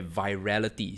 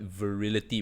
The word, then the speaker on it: virality: managed to create the virality see I used to pronounce the word wrongly I used to call it virility but it's actually virality where it goes viral